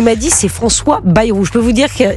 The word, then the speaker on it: Bayrou: je vous ai dit berou ou Barnier je je m alors écoutez d'abord c'est Baayou alors je vais le faire aux autres aussi son vrai nom c'est Baayou ça se prononce Baayou il vient B ouais